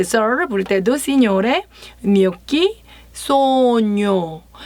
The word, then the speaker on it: gnocchi: 뇨끼라고 불러요.